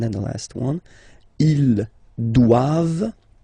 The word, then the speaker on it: doivent: All right, and then the last one, ils doivent. So same thing, classic ending for the plural form, E-N-T here, okay, but then you don't pronounce it. Doivent, doivent. Elles doivent.